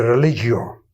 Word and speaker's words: religio: Y Campbell le contestó, bueno, la palabra viene de religio, acento en la O, que es volver a unir o atar.